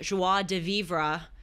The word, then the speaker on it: joie de vivre: It's called The French Art of Living Well, Finding Joie de Vivre in Our vive. Everyday. It's pronounced okay.